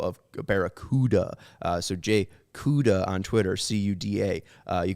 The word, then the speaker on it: Cuda: did ask him and he said it's uh pronounced like the uh last uh initial of barracuda uh so jay cuda on twitter c-u-d-a uh you could follow him